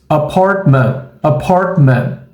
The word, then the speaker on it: apartment: Observe como a gente pronuncia em inglês. Apartment. Então a gente não diz apartment. A gente diz apartment. É essa a pronúncia correta da palavra apartamento em inglês.